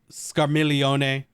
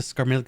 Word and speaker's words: Scarmiglione: of the msq uh scarmelione you know you got to put the right italian on there i'm so used to scar milk i had to like check myself the g is silent um god what a